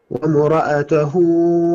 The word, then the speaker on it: وامرأته: وامرأته لا الألف لا ينطق يا أبا زينب، الألف لا ينطق. نعم. وامرأته حمالة الحطب. بص ركز معي يا أبا زينب. وإيه لا. نعم. الألف لا ينطق، أكن الألف ليس موجود.